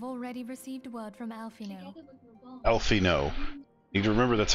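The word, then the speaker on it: Alphinaud: worse I have already received wood from alfino alfino you can remember that's how you pronounce his name Alpha nov his founding particularly passionate about the need to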